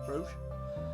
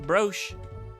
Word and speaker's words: brooch: How do you say How do you say brch? Br. Br. Broch. Brooch. Brooch. It's brooch. Brooch. Brooch. Brooch rhymes with roach.